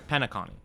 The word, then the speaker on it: Penacony: Or yeah, it's like Penacony. Yeah, it's Connie. It's Connie for sure. Penacony.